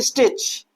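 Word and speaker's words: stitch: यहां पर देखिए स्टिच, सी एस से पहले क्या आ रहा है, टी आ रहा है, तो टी क्या है, साइलेंट है।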